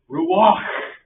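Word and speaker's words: רוּחַ: And Baron Kirchhoff said it best when he said that Hebrew word is ruach, and you're supposed to pronounce it ruach.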